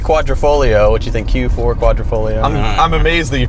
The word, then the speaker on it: Quadrifoglio: But it's not the Quadrifoglio, which you think Q4 Quadrifoglio. I'm amazed that you pronounced that properly.